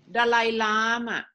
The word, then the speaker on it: Dalai Lama: Lama and Dalai Lama is everyone pronounced after me when you want to talk about the Dalai Lama just say like this Dalai Lama yeah so all the elk sounds so it is easy for Thai people okay to to